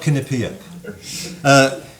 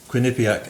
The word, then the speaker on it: Quinnipiac: Would you say it properly for everybody? Quinnipiac. And not Quinnipiac.